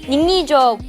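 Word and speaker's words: 宁艺卓: Also, I'm really bad at Chinese pronunciation so I'm just going to be calling her Ningning throughout this instead of Níng Yìzhuó See, I had to get her to say that.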